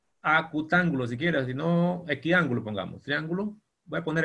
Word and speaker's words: equiángulo: Equiángulo, triángulo, X es igual. No olvide, X igual, y luego le agrega un sufijo. Equiángulo. Con acento en la A, ¿verdad?